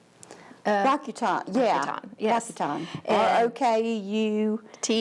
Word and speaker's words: Rakuten: never sure how to say the overarching name, Rakuten? Rakuten, yeah.